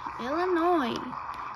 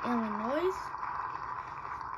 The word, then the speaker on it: Illinois: Illinois! I know it looks like Illinois. Me, when I was younger, I always thought it was Illinois. But apparently, you pronounce it as Illinois.